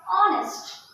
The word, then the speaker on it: honest: नेस्ट, उसके सामने HO लग गया, हॉनेस्ट। नहीं नहीं, इसको हॉनेस्ट नहीं पढ़ा जाता है, ऑनेस्ट। ये जो H है वो वहां पे साइलेंट, साइलेंट मतलब उसको हम पढ़ते नहीं है, तो यहाँ पे क्या पढ़े?